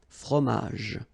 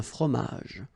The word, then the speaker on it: fromage: okay, remember, j, okay, in that case, you don't insist on the final j, fromage, un fromage, all right, then une salade, un dessert, un café.